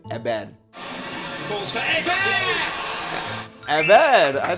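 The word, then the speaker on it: Héber: We don't pronounce the H when it's in the beginning, so I think it's Ebed.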